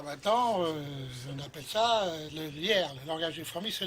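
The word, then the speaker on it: liair: Alors maintenant, le langage des fourmis est appelé le lierre. Bon, c'est pas la plante, bien entendu, ça s'écrit L-I-A-I-R.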